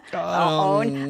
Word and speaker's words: onn: Like, how do you say that? Own. Like, yeah, exactly.